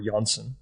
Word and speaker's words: Janssen: by the name of hank janssen or johnson as he should be pronounced realizing that the work